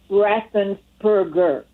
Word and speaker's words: Raffensperger: The man's name is Raffensperger.